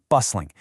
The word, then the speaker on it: bustling: And if your city sits on the water, describe the waterfront as bustling, spelled with a T, but that T is silent, bustling.